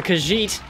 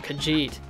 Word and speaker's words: Khajiit: I call them the Khajiit or Khajiit, depending on how I feel. I either do the soft j or I do the hard j. I'm never really fully decided on that. It's usually Khajiit.